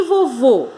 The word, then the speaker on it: vovô: monossílaba terminada em a e vovô não é monossílaba porque não tem uma sílaba só então é um boxe tona uma oxítona porque a sílaba mais forte é a última e ela é uma